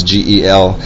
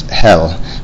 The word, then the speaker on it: Gel: They pronounce G-E-L, his last name is Hell, but in English we pronounce it Gel.